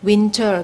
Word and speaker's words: winter: ค่ะสำหรับสไลด์นี้นะคะก็เป็น deletion นะก็คือการลดเสียงหายไปนะคะตัวอย่างแรกนะคะก็จะเป็นส่วนใหญ่และจะเป็น T นะคะที่หายไปนะคะโดยเฉพาะที่ลงท้ายที่เป็น NT นะคะก็จะคงไว้แต่ N นะคะอย่างเช่น winter ก็เราก็จะไม่ออกเสียงงั้นก็เป็น winter นะคะหรือว่า Toronto นะคะก็จะไม่ออกเสียง T ชัดนะคะก็เป็น Toronto นะคะแล้วก็Enter